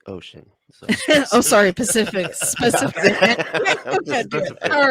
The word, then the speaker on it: Pacific: It's pronounced Specific Ocean. So. Oh, sorry, Pacific.